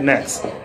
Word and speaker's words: NXT: out yeah it's it's spelled NXT without the E yeah now that was something I wish they would have never done hmm confusion doesn't help see adoption you call it next but you spell NXT